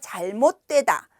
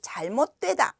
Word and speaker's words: 잘못되다: 이렇게 발음 하세요 . " 잘못 도 에다 " 또는 " 잘 - 못 드웨 - 다 " 라고 발음 할 수 있습니다 .